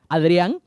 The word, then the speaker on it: Adrian: have found out that easier to say my name as in Spanish Adrian so that's my name